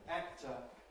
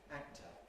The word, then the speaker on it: actor: Same applies with the examples at the end, actor and captain. Now, in the sort of ordinary, relaxed English pronunciation of these words, notice what happens. Actor, actor, actor. We don't say actor, actor. We say actor.